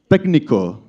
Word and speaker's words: técnico: Technique, técnico. Yeah, the C in Spanish is pronounced like a K.